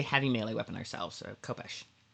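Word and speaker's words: khopesh: I think it's more of a sound if it's kh. That's how um I've heard it pronounced copesh but I know that in anglicizing Arabic words occasion the sound that we don't have in English um um all right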